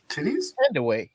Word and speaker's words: Thandiwe: He said titty No. What I say, titty? I ain't say no damn titty, babe. Thandiwe.